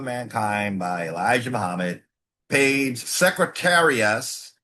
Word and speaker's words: Secretarius: Page Secretarius, just like it's spelled, Secretarius, I-U-S.